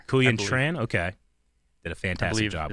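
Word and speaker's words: Quyen Tran: now we know Sam Google's wife uh uh Korean tran kuyan tran okay did a fantastic job that's how it's pronounced yeah she did yeah incredible work yeah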